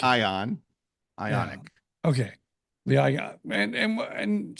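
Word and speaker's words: Ioniq: the make what's the model the right it's ionic ionic like ion ionic okay I and and and so I've been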